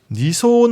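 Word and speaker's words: 二層: 자 그리고 마지막 표현입니다 니소 초코가 오이시 이제라고 적혀 있습니다 이걸 번역하자면 두 겹으로 된 초콜릿이 맛있다고 정도가 되겠습니다 하나씩 볼까요요 한자는 우리가 1층 2층 3층 할 때 그 층이라는 한자인데 일본어로 소라고 읽고요 물론 알아두면 좋겠지만은 따져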